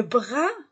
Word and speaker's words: bras: le bec le bec le bras je ne prononce pas la lettre S le corp je ne